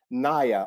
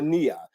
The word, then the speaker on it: Nia: The principle is Naya or Nia, depending on how you want to pronounce it, which means purpose.